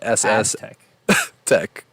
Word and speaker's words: Aztec: With a Z. But you say it like a ss tech.